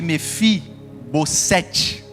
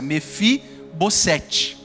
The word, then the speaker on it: Mefibosete: O nome de Mefi Bosset. É assim a pronúncia, Mefi Bosset.